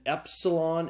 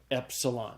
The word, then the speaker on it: epsilon: next letter is an epsilon it's a short e sound it's like the II in the English word met so say those with